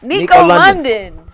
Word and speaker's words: Nico London: Nico London. Yes. That's the proper way to pronounce it.